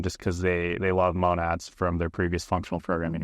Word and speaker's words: monad: uh monad is um I always say it wrong actually I think the proper pronunciation is monad um say monad but yeah a monad is